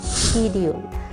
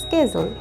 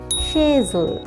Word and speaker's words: schedule: স্কেজুল হচ্ছে যেটাকে আমরা সচরাচর বলে থাকি শিডিউল, যেটা কিনা কমপ্লিটলি রং। আমেরিকান ইংলিশে SCHEDULE, এটির উচ্চারণ হচ্ছে স্কেজুল। অপরদিকে এই স্পেলিংটিকেই ব্রিটিশরা প্রোনাউন্স করে থাকে বা উচ্চারণ করে থাকে শেজুল, শেজুল, এবং আমেরিকানরা উচ্চারণ করে থাকে স্কেজুল, স্কেজুল।